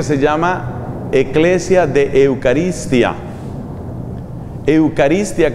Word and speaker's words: Eucharistia: Eucaristia, que se escribe con CH, como si fuera Eucharistia.